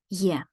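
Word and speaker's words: Я: the next one is yeah this is yeah yeah as in the English word yes yes will be our mnemonic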